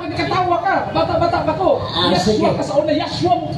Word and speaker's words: Yeshua: Pero what ang imong pagpronounce sa Hebrew sayo, ayaw mo tawag sa una, Yeshua. Ako kayong gibadlong sa plaza. Yeshua.